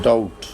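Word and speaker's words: doubt: Word BT यानी कि किसी वर्ड के एंड पे बीटी आ जाए या मिडिल में दरमियान में आ जाए तो उसमें बी साइलेंट होगा।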